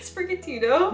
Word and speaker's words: Sprigatito: How do you pronounce it? Sprigatito? Yeah, that's it.